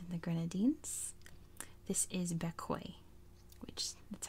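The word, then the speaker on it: Bequia: the biggest island in the Grenadines this is bekoi that's how you pronounce that koi and um it is not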